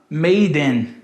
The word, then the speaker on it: made in: A gente pode falar assim, ó. Maiden. Maiden. Lembra quando a gente era pequeno e a gente pegava uns brinquedos e falava assim, olha mãe, made in China. E era made in China. Made in China. Made in China. Made in China. Made in. Aqui é a mesma coisa, ó. Made in, ó.